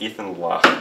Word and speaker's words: Ethan Loch: Hi everyone, I'm here with Ethan Loch. Hello. Is that sort of the correct pronunciation of your name?